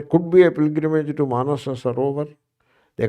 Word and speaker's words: Manasarovar: be a pilgrimage to Manasa Sarovar. They call it Manasarovar. One sa they drop. They don't have time to pronounce two sa's energy. So instead of saying Manasa Sarovar, they drop one sa.